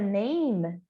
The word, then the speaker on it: name: Então na palavra name eu tenho esse A com som de EI e o final esse E é mudo. Então termina com som do M, name. What's your name, né? E não name ou alguma coisa mais longa. É bem curtinho, name.